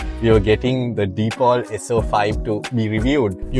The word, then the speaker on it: Deepal: Yes, it's pronounced Deepall, not Depal. But yes, it's easy to say Depal as well.